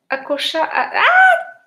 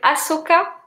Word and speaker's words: Ahsoka: Oh, I can't remember how to pronounce her name. Ashoka. I have Akosha. I'm sorry, Ahsoka.